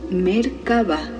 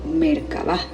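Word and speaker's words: Merkaba: en otras culturas como mercaba mercaba mercaba y existen varias pronunciaciones pero generalmente se articula como si las tres sílabas estuvieran separadas merc con acentos iguales en cada una mer se refiere a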